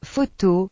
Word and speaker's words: photo: Las letras PH se pronuncian como el F, por ejemplo, Photo.